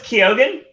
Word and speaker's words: Keoghan: But the thing is Nolan during one of the director talks was saying Barry Keoghan, and it turned out that wasn't the actual pronunciation. I can't remember what he said the actual pronunciation is. It's probably Keoghan. No, it's Keoghan.